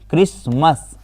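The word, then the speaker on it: Christmas: क्रिसमस सी एच आर आई एस टी क्रिसमस। टी यहां पर silent रहता है।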